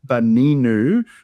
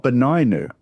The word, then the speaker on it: Beninu: So sometimes you'll see even when I'm pronouncing a short E, Beninu, not Beninu. But you could pronounce it either way.